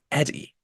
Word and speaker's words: Eddie: me for short and English the name is pronounced Eddie so please call me Eddie my friend we were